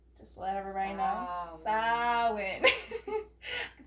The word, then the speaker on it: Samhain: Yeah, on Samhain is how you say it. Just to let everybody know. Samhain.